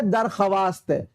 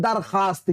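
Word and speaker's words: درخواست: यानी एडल क्या हुआ यानी जो भाव लिखा जाए लेकिन पटना जाए लिखा गया है दरख्वास्त लेकिन पढ़ने हैं दरखास्त क्या पढ़ने हैं दरखास्त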